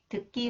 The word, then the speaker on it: 듣기: When 기역 follows the final consonants 디귿, it is pronounced 드. It is pronounced, 기역 is pronounced 끄. 듣기 문제가 너무 어려워요.